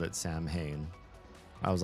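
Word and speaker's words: Samhain: wrong and so for Sam Hayne you don't pronounce the M as an M because it's it's not English end of story but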